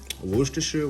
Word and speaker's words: Worcestershire: really some dijon mustard worcestershire that's how you say it y'all worcestershire worcester yeah so this right here